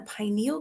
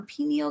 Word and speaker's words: pineal: and it's decalcifying the pineal gland or pineal gland people pronounce it differently but that is the